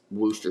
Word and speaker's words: Wooster: And my personal stuff is Wooster, Wooster spelled like rooster, but with a W.